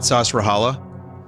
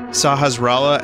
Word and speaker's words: Sahasrala: Vinny, it's not Sasrahala. How do you say it, then? Tell me how to say it. Say it out loud in the chat. It's Sahasrala.